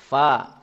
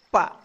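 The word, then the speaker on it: ف: Fa, ada nafas yang keluar. Ketika seseorang mengucapkan huruf fa tapi pa, berarti salah.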